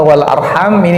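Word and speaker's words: وَالْأَرْحَامِ: Ayat wattaqullaha alladzi tasaaluna bihi wal arham, untuk kata wal arham ini bisa kita baca wal arhama. Ini menurut qiraah jumhur, menurut cara bacanya mayoritas ahli qiraah, bacanya wal arhama.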